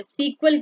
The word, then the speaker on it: SQL: माय सीक्वल नहीं कहते जबकि एसक्यूएल को हम सीक्वल पढ़ते हैं ठीक है लेकिन माय